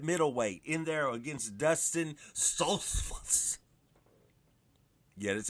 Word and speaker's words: Stoltzfus: How about Kelvin Gastelum back up at middleweight in there against Dustin Stoltzfus?